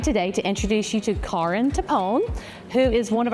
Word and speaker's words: Karin: So not Karen, although that's a great name. I'm Karin Timpone.